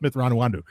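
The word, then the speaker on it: Mitth'raw'nuruodo: book is is they they really emphasize how to pronounce uh thon's chis name mythron neodo that was I was laughing my ass off because there's a point in the book yes where where Anakin and and thraw are first meeting each other and like they're going back and forth on how to pronounce it Anakin it sounds like Anakin saying it perfectly but then Thon just say no it's myth ran wandu like five minutes and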